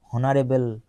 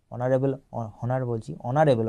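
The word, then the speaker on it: honorable: তারপর দেখো dignified, lofty, হনারেবল, অনারেবল উচ্চারণ হবে, অনারেবল মানে হচ্ছে তোমার হচ্ছে ম্যাজেস্টিক বা গ্র্যান্ড, ঠিক আছে।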